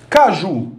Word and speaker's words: caju: Então, as 3 palavras trazem a sílaba tônica na última posição.